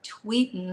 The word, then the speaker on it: Tweten: But people didn't, like, my name is spelled Tweten. And a bunch of people were just like, oh, well, you should just put Tweetin, like Tweetin.